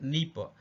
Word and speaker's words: Dnieper: பாருங்க, நீப்பர் ஸ்பெல்லிங் பாருங்க, DNIEPR. இங்க டி சைலண்டா இருக்கணும், டி உச்சரிக்க கூடாது. நீப்பர், இந்த நீப்பர்ன்ற ஆறு எங்க இருக்கு அப்படின்னா ரஷ்யாவில் இருக்கு.